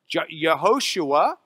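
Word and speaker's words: יהושע: in Hebrew or Joshua yehoshua is the way we would pronounce that Hebrew name the yah part means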